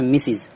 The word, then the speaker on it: Mrs: سے پہلے مسز MRS، یہ لکھاتا تو ہے MRS لیکن اس کا تلفظ ہوتا ہے مسز، اور غیر شادی شدہ